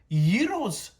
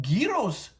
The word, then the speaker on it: gyros: Los Angeles, and we're going to be reviewing Gyros. Now, I know you may not know what the gyro is, but maybe if I pronounce it gyros, it might jog your memory.